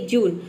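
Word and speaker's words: June: तो देखिए जब किसी वर्ड में यू के बाद क्या हो, कॉन्सोनेंट प्लस ई हो, तो वहाँ पे यू को हम ऊ प्रोनाउंस करते हैं। जैसे कि जून।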